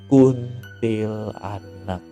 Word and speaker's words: Kuntilanak: gue takutin itu adalah Kuntilanak Kuntilanak Kuntilanak Kuntilanak bacanya kuntilanak bukan kuntilanak eh jadi yang lain lagi kuntilanak Jadi yang bener adalah kunti lanak ya jadi Kuntilanak ini